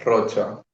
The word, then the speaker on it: Rocha: Uma CH, a pronúncia vai ser como Sh.